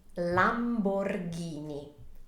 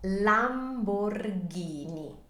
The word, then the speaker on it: Lamborghini: be quite a mouthful just remember that when in we have an H that turns the the G sound or the C Sound into a heart one so this is never Lamborghini is always Lamborghini and this was established